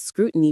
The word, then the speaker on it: scrutiny: are often under intense scrutiny from the media, opposition parties, and the public. With every decision questioned and every statement analyzed for its implications, scrutiny, stress on the first syllable, this noun implies a